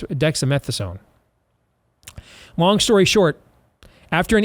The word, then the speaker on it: dexamethasone: low dose of and I can never pronounce the dexamethason I think it's dexamethasone long story short after